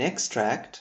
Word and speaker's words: extract: syllable, we have an extract from a film. For example, we watched an extract from a historical film. Extract with the stress on the second syllable would give us the verb.